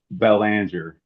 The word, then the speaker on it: Belanger: Like Bellanger. Ballinger. Okay. Okay. Yes, sir. Yeah. Since it is not my naughty language. Sorry about it. Okay. Ballinger.